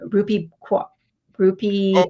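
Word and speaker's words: Rupi Kaur: know that poet i don't know how to pronounce her name ruby groupie oh ruby ruby would be core yeah you are right yeah yeah yeah um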